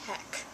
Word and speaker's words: HHEK: It's called HHEK, which is the first letter of all of their names put together, and it's pronounced heck.